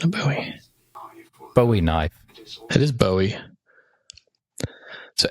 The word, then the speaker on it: Bowie: Bowie's Bowie knife but I thought it's a buoy knife that's a buoy knife a weapon he